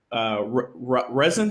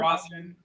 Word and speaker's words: rosin: And it sounds like, resin. How do you say it again? What's the word? Rosin. Rosin. So Yeah.